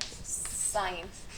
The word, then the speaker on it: sine: साइन का नाम होता है साइन। अच्छा, अब कुछ बच्चे इसको सिन पढ़ते हैं, तो इसको सिन नहीं पढ़ना है, इसको साइन ही पढ़ना है, और पूरी स्पेलिंग इसकी ये होती है SINE।